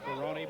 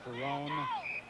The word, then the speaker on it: Ferron: 47 yd line also Dan Ferron who pronounces his name Ferron but many people call him Fon with the ball at